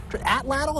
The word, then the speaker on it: atlatl: Atlatl, is that how we pronounce it?